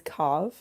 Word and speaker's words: cave: His wine seller, his Cav, C A Ve, spelled like cave.